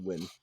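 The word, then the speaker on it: Huynh: I think it's just Vietnamese. It's pronounced win.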